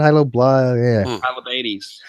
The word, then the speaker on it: Hylobates: When it comes to the human chromosome number 2 fusion site, he's actually talking about gibbons and hyloblatate, or how do you pronounce that? Hylobates.